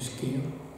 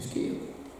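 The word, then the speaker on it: skyr: Du skir. Pas du skir. Hein. D'accord. Ah non, du skir, le skir. Le skir, c'est, ça s'écrit en tous les cas en français, S-K-Y-R, c'est un yaourt islandais.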